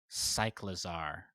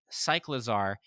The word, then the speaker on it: Cyclizar: A new Pokemon trailer shows off competitive battle scene and a new Pokemon, Cyclizar. Right? Am I pronouncing that right? That's how I guessed. It was pronounced like cycling and lizards.